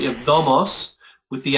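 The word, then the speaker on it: νομός: You have nomos with the accent on the penult, right? And you have nomos with the accent on the ultima. The difference in meaning is law and feed.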